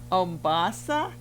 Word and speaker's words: Ombassa: name is omasa what is how do you pronounce it o o omasa sophira beautiful name I mean I just I